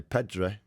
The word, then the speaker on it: Pedri: I'd play Pedri, who you absolutely love, don't you? That's how you pronounce it.